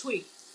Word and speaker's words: Twi: I don't like roundabout answers, but it's Twi. It's spelled Twi.